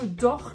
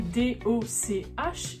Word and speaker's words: doch: non c'est pas ça c'est ce petit mot d'or qui s'écrit d o C H et qui se prononce bien dor et pas